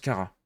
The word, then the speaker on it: Cara: Ça se prononce Cara.